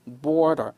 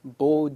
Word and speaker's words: border: 정확하게 미국 발음을 하시려면 border 그죠 are 들어가 있죠 B 그죠 border Bo 그래요 어렵다 Bo 하셔도 됩니다 여러분 영국 애들도 Bo 하니까 걱정하지 마시고 그냥 없이 무시하셔도 돼요